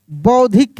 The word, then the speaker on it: बौद्धिक: बौद्धिक भी हो जाएगा बौद्धिक देखिए ब ऐसे धी और क बौद्धिक साध्विक क्या लिखेंगे?